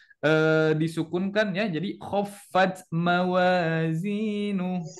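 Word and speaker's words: موازينه: Jadi khaffat mawazinu. Jadi bukan khaffat mawazinuhu. Nah, bukan seperti itu ya, tetapi disukunkan, diberhentikan.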